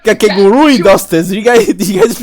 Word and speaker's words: Kakegurui: I think it's Kakegurui. You gotta pronounce the last U.